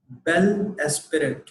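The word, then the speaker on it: bel esprit: इस वर्ड की प्रोनाउंसिएशन है बेल एस्पिरेट, बेल एस्पिरेट।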